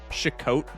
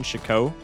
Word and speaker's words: FocusSh0ck: You shouldn't pronounce the T in FocusSh0ck.